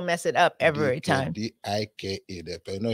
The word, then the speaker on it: Dike: D-I-K-E. You know, here they try to call it Dike, but it's pronounced as it's spelled.